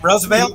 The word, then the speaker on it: Roosevelt: a younger generation it's it's pronounce rose like the wine okay that's how it